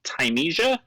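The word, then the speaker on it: Thymesia: also on the 18th i believe it would be pronounced tymesia t-h-y-m-e-s-i-a this is for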